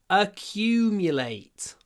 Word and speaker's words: accumulate: Make sure you get a big y in this word. Accumulate. Lots of y. Accumulate. Accumulate. It's funny how in this word, in the word accumulate, in the word accumulate, the Q is only 2 letters, Q. But in the word Q, it's 5 letters, but it's the same sound.